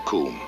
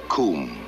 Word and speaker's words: cwm: incline of the western Kum uh Kum that is spelled cwm it's a Welsh word meaning a glaciated valley